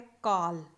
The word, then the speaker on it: कॉल: काल मीन्स समय, लेकिन ये जो वर्ड है इसे प्रोनाउंस करते हैं कॉल। ठीक है, इसके ऊपर इसे कॉल बोला है तो इसके ऊपर एक इस तरह से चंद्र बनाया हुआ है।